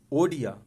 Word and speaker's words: ओडिया: मलयालम, मणिपुरी, मराठी, नेपाली, उड़िया नहीं, ओडिया। This is ओडिया भाषा है।